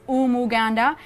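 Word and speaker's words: Umuganda: should copy this called Omo ganda now you're Canadians might have issues pronouncing this word but it's all more ganda I can't spell it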